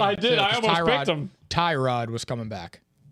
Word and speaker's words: Tyrod: Tyrod was coming back. Isn't it like pronounced Tarad? Yeah. We learned that via Hard Knocks.